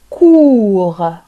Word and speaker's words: court: court لا نقرأ حرف ت في الأخير بالنسبة للمذكر، نقول كور قصير كور. وبالنسبة للمؤنث لو فيمينان نضيف او فنقرأ الحرف ت تصبح كورت كورت.